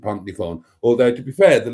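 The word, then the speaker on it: Pontneathvaughan: The anglicised version of that is Pontnefawn. It's spelled Pont Neath Vaughan, but we pronounce it Pontnefawn.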